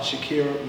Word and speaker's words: Sha'Carri: So yo, let's start off talking about Sha'Carri Richardson.